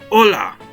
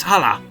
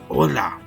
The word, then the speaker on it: hola: little bit with pronunciation I know it's spelled with an H but in Spanish we pronounce the h sound with a ha or Mak an Ola not haa but Ola Ola see see now